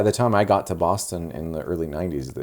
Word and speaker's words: Boston: don't live in Boston it's not Boston it's not bah nest ein don't write it like that don't say it like that it's B aw as T is STI n Boston not Boston Boston Boston like Austin Powers like an Austin Powers children do you say Austin Texas no you don't you